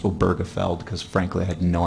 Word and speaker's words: Obergefell: of come to a cons ensus that it's pronounced oberfeld because frankly I had no idea how to